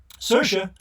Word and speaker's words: Saoirse: what twenty tens movie Saoirse rhymes with inertia Ronan makes stacked courtesans